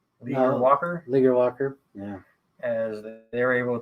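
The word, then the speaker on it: Leger-Walker: Leaguer Walker, yeah.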